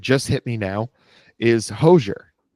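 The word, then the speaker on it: Hozier: I think hoser is how you say it. Like like kosher but hoser koser kosher hoser.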